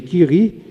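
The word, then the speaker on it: Curie: Em francês, eh, a pronúncia seria Kiri, mas pro português gerou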